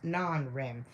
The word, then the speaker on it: NREM: We have these have been called REM, rapid eye movement, and NREM, pronounced non-REM.